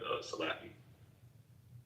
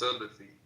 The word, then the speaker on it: Salafi: in the room together, Salaki. When I was speaking of history of this. What'd you say, Stan? No, I was saying it's pronounced Salafi. Salafi, okay, thank you.